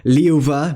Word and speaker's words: liuba: And voiced by labial fricative v immediately after vowels, as in liuva meaning deer, livan meaning to live, and gravan meaning to dig.